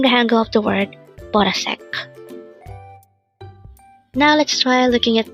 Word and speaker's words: 보라색: BORASAEK. Again, it's BORASAEK. This pronounced as a three-syllable word. The first syllable is bo, second syllable is ra, third syllable sek. Pronounce it with me. BORASAEK.